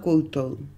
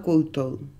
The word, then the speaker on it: koutou: Tēnā koutou, tēnā koutou.